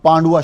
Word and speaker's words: Pandua: یہ جو پانڈوا ہے اس کا صحیح تلفظ PANDUA پانڈوا یا PANDOOAH پانڈوا، مگر جب گفتگو کی جاتی ہے تو بیچ میں وی کا تلفظ جو ہے وہ نکال دیتے ہیں، وی کو بول دیتے ہیں پانڈوا.